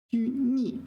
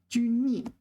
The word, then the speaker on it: 拘泥: Okay, so this is the second tone 泥, but there's fourth tone 泥, fourth tone 泥. 拘泥, fourth tone, restrained. 拘泥.